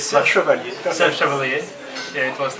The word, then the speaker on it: Serre Chevalier: first trail was in France, and maybe my pronunciation is wrong, Serre Chevalier. Okay. Yeah, it's Serre Chevalier.